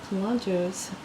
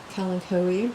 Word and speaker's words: Kalanchoe: video is all about Kalanchoes. You may have heard them pronounced Kalanchoe, but I call them Kalanchoe, which is also correct, and a lot of people call them that too.